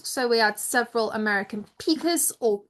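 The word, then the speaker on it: pika: So, we had several American peakers, or piker, as the Americans pronounce it.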